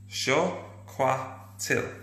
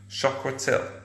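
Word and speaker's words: chocolatl: called, you'll like this, it was called chocolatil. Chocolatil, okay, so chocolatil. Now that's how you would write it today. That's how you would pronounce it.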